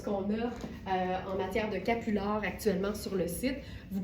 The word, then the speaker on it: capulard: Et capular, ben, c'est vraiment le croisement entre capuchon et foulard. Fait que ça s'écrit comme ça se prononce, C-A-P-U-L-A-R-D.